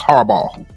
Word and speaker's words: Harbaugh: You see, I think it's the G and the H that's messing with you. Yeah. Just imagine ball. It's Harbaugh. It's like Harbaugh.